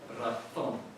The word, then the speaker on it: razón: develop and change, and that leads to razón, to have a pronunciation in Spain of razón, and that is the distinction that exists.